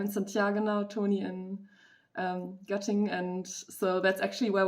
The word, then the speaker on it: Göttingen: How do you pronounce that? Göttingen. It wasn't too bad, actually. Göttingen.